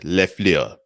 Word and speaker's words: LaFleur: of the packers matt lefleur now i don't say your name as an insult i'm saying your name because that is how your name is pronounced sir going the analytic